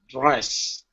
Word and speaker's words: dress: When I when I say this word, okay, when you pronounce the dr, uh, your mouth can't be wide. You can't say dress. Okay. It's lips together. You're going to pronounce a J sound. Dress. I think that's like J like J is the beginning. It is. Yeah. The beginning the beginning is like a J.